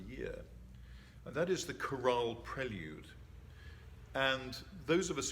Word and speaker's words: chorale: But the chorale prelude is particular to the organ.